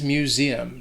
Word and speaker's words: museum: The first is that first syllable, that mu, has like an M sound combined with like saying the word U. Museum. That S is also going to sound like a Z.